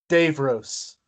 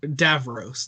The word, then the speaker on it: Davros: Skara okay sorry sorry I like my uncle does not say does not say Dave Rose he says was it um Dave Davros that's it that's what